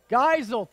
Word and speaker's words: Geisel: Couldn't find any way to phonetically say it. Is it Giesel? Geisel, thank you.